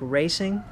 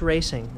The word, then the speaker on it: Raceseng: I've heard people pronounce it now, and it's like racing, but it's a funny spelling. So race with an S, ing just means ing. That's how I've heard it pronounced. So it's just racing.